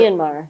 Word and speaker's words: Myanmar: So at that point, regretfully, we will miss you, but we wish you well in Myanmar, how do you pronounce it? Myanmar.